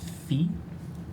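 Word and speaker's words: Phoe: Uh, their name is Fee. Okay. Pronouns are they then? Fee is spelled P H O E. That's what sounds like fe.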